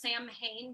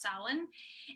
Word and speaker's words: Samhain: called salon which it's it looks like it's pronounced samhain but it's pronounced salon and it was when the the celts believed